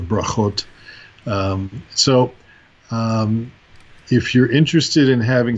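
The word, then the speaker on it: ברכות: the land of Israel, not the Ashkenazi accent where the T is pronounced as an S, like they will say Ivris instead of Ivrit, right? And other things like brachos instead of brachot.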